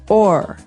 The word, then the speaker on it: o'er: So this is a way to make the word over shorter, because over, you can hear it 2 syllables, over. Mm-hmm. But sometimes we only want one, so we say or.